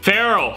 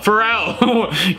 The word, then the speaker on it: Pharrell: of the Phoenix yeah Pharaoh Pharrell gotta watch your pronunciations like the legend of